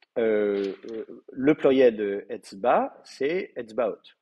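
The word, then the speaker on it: אצבעות: Et le pluriel de Etzba, c'est Etzbaot. Donc vous mettez une finale haute, très bien, qui va prendre l'accent. Le A va se retrouver en syllabe ouverte plutôt que fermée, donc on va passer au kamet.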